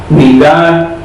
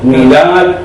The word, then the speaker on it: Midá: Si quieres anotar, Midá Keneged Midá en hebreo, M-I-D-A, Midá, lleva tilde en A.